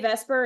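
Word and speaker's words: VSEPR: going in right like if you say Vesper and you spell Vesper the way Vesper is spelled that's not going to help you so VPR Theory and molecular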